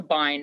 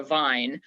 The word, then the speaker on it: bine: whole entire bind and it is a bind not a vine due to the the structure of it spell it spell it because people are saying what it's b is in boy bine b-i-n-e so that that entire